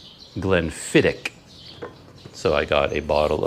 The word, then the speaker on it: Glenfiddich: in a comment that i was pronouncing it wrong it's not glenn fittich glenn fittick so i got a